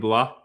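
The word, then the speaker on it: Blough: Did you guys talk about David Blah or Blow? How do you say the last name? It's Blow. Wow.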